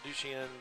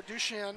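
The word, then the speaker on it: Duchenne: 10 years ago what have we learned about du chien am I saying it correctly yeah you are douche in douche yeah what have we learned medically any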